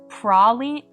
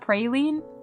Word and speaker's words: proline: Wait, it's actually pronounced prolene. Proline. What? No, that one's got to be fake. It's not praline.